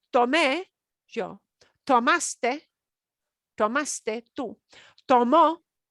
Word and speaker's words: tomó: Tomó, notice, not tomo, tomó, tomó.